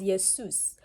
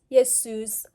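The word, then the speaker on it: Jesús: does your soos do so the spelling is the same spelling as Jesus but pronunciation is your Seuss what does yes Seuss do okay after you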